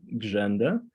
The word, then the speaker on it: Grzenda: As Paul said, my name is Grzenda, which rhymes with agenda.